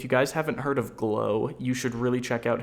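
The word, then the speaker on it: Gleaux: he swears by it it's g-l-e-a-u-x g-l-e-a-u-x I believe I hope I didn't just spell that wrong but his name is glow he makes good videos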